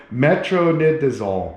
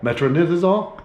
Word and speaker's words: metronidazole: i'll allow i can never say it metro metronidazole metronidazole yeah you guys pronounce it out there it is but that's